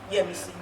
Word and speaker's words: Yemisi: And he goes, and then he calls me Yesmi. And I said, no, it's not Yesmi because the S is before, after the. And then he goes, oh, Yemisi.